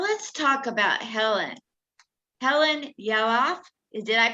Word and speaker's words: Yalof: Helen Yalof. Did I pronounce it right? Yalof.